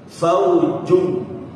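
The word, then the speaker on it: فوج: k yang pertama ada huruf Jim faujung jung ya jangan disamakan dengan huruf z bukan fauung fauungum khah ini baru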